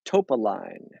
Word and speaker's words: topaline: The correct answer was topaline, like top a line, a rare mineral used in environmental systems.